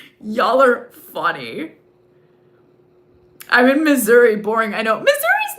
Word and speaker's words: Missouri: I'm in Missouri. BORING. I KNOW MISSOURI is not that boring. I mean, it rhymes with misery a little bit.